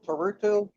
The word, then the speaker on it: Turturro: No, Turturro, John Turturro.